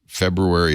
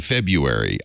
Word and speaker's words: February: She said, well, I say February. She said, I don't think you pronounce the R. The R is silent.